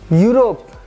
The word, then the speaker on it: Europe: Ew we E what it is written we do not pronounce we pronounce it differently. It is U. U you a female ship. Europe Europe Europe.